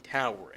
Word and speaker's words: Taur: you’re padding your main tower and the padded “units” are capable of different things. The game’s name is pronounced like “Tower”, I assume, so it’s literally in the name.